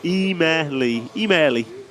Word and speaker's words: Emili: How to pronounce the Finnish name Emili correctly? Oh, Emili.